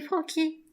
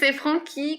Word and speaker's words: Franchi: l'apéro franchi caisse mais attention c'est francky la merde ça me